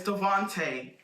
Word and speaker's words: Devante: But yeah, and it's Devante. Not Not Devante. Devante. Pronounce it properly, please.